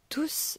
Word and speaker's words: tous: Tous ne le savent pas. On entend bien T-O-U-S. C'est donc uniquement dans ce cas, quand il occupe la fonction de pronom indéfini, que l'on va prononcer le S.